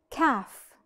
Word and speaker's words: calf: now let's see another example calf which is the little cow we call it calf we do not pronounce